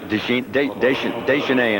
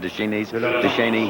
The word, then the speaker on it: Duchesne: Well, they pronounce it one way here, one way in France. They pronounced now you're going to mix me up on it. Deschenais in France and Duchesne here in Canada.